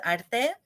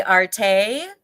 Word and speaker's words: Arte: You could say Arte or Arte.